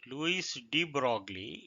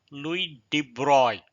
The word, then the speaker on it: Louis de Broglie: Louis de Broglie, though it is written as Louis de Broglie, it is pronounced as Louis de Broglie, who lived between 1892 and 1987, was a French physicist, studied history.